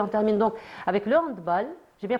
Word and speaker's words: handball: termine donc avec le handball. J'ai bien prononcé handbal handbal handbal handbal. J'ai bien prononcé. Oui oui oui parce que c'est un sport germanophone. On dit handb et pas handball.